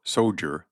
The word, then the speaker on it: soldier: The name of soldier, or soger, as it is pronounced by your real tar, is the most stinging epithet of contempt at the command of a sailor.